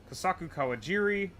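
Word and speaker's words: Kosaku Kawajiri: Uh, Kasaku Kawajiri.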